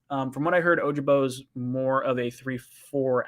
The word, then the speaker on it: Ojabo: from what i've heard ojabo is not oja hojobo ojabo every time i say